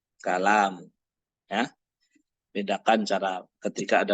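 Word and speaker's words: الكلام: Beda lagi nanti kalau ini ada alif di sini, ya, sehingga jadi begini. Maaf. Ya. Nah, ini dibaca kalam.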